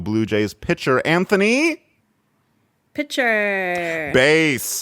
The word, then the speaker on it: Bass: A lot of people pronounce it bass like the fish, but it's spelled the same as bass like the instrument, and considering his line of work, just makes a lot more sense.